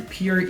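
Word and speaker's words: pier: だから pronounce はセームだと思うんだけどね。P-I-E-R で peer 以外読めないもんな。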